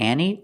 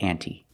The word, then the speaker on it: ante: expression up the ante you have two pronunciations up to any or up to ante and it means to